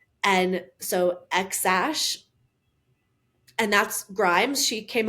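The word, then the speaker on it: X Æ: spelled X AE which X is pronounced normal AE is pronounced Ash and so xash and that's Grimes she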